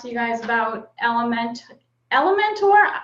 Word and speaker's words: Elementor: you guys about element element or how do you say it Cassie it's a mentor in elementary um I always say it like like it's a dinosaur Elementor so she's gonna give